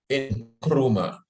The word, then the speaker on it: Nkrumah: of pan-africanism some people say it's Dr Kwame in chroma is the real pronunciation I am now learning this thing properly